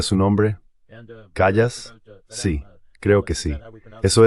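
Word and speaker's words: Kallas: Así se pronuncia su nombre. Callas.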